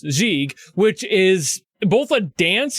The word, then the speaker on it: gigue: I learned what gigue means, even though it's actually pronounced gigue, which is both a dance in the Baroque